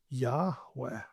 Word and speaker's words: Yahweh: But my name is I am which in Hebrew when the first person speaker is speaking is when you refer to that person, the pronunciation is Yahweh.